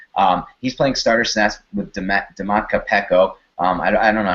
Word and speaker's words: Domata Peko: He's playing starter snaps with Dematka Peko. I don't know how to pronounce it. I think it's Dematka Peko. Domata Peko? Domata Peko? Okay, yes, that sounds right. Domata Peko.